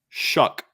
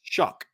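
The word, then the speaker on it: Shough: name right Tyler Tyler shuck Tyler shuck okay it's pronounced like s u c k okay I don't know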